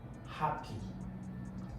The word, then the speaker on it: happy: Happy. You see, happy. The man is happy. This is an adjective there. Where is the stress? In the first.